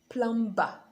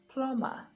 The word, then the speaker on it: plumber: when it shouldn't be now the b is silent when it comes after the letter m so you have comb climb farm dumb evening plummer so it's not plumber plummer lamb climb and not